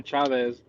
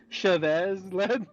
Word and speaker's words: Chavez: It's just Cha and then Vez. Yeah. I like Chave. When you start changing the whole fucking name to you want to change the whole pronunciation of it, Chavez.